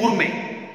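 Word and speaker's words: gourmet: लेकिन इसका ऑपोजिट बड़ा एक अच्छा वर्ड है, दैट इज गूरमे। गूरमे, इसमें टी साइलेंट है।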